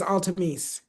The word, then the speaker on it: Altamese: And is it is it pronounced Altamese? Is that how you pronounce your name? Is it not you? Not you, Lesie, but I know. Yeah, it is Altamese.